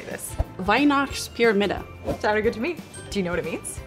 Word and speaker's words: Weihnachtspyramide: And now I'm gonna go see if somebody can tell me, how do I pronounce this? How do you say this? Weihnachtspyramide. Is it English? Weihnachtspyramide?